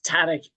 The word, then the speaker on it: TADC: I will not try to pronounce. It's Tadek. Really excellent talk.